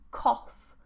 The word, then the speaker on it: cough: Do you pronounce calf like cough? No, calf, calf, cough, cough. So cough is like, this is a cough. Calf, cough. Different vowels. Cough is a shorter or rounded vowel.